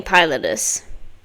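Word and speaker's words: pilotis: How do you pronounce Potus? pillow. It's saying Pilotus.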